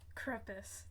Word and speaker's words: Crepus: none other than Master crepus when he mixed the drink from Master Kaya himself krupus that is how it's pronounced she's like their mother